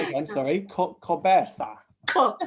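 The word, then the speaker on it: Gqeberha: Coberta. Say it again. Sorry, Coberta. Oh, you got to get the click. Oh, no. Coberta.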